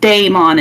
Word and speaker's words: daemon: called an ash uh technically speaking the proper pronunciation of the word Daemon is pronounced the same as the word demon d-e-m-o-n uh however it's fairly common in the Damon Community for the word to be instead be pronounced with the heart a sound rather than a hard e sound uh it's pronounced so it would be pronounced Daemon instead of uh as I am doing right now uh